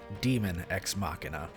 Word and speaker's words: Daemon X Machina: i know in english spelled with ae are aegis and ether so for simplicity's sake i will be pronouncing this game demon ex machina customizable mech suits